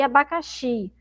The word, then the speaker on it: abacaxi: Então, observe como essa sílaba xi é uma sílaba forte, tá? Todos têm aí som de i, né? Abacate e abacaxi.